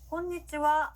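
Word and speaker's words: こんにちは: 자, 낮 시간대, 점심시간에 만났을 때는요 곤니치와 라고 인사를 합니다. 자, 따라해볼게요. 곤니치와, 곤니치와. 네, 좋습니다. 우리 분명히 이 글자 하라고 배웠는데요. 인사말로 쓰일 때는요 하 발음이 아니라 와라고 발음한다는 거 기억해 주시고요.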